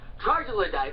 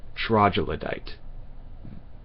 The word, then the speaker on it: troglodyte: much when some parasitic troglodyte like yourself... Troglodyte. No, it's troglodyte. Hard G. Troglodyte. Not troglodyte.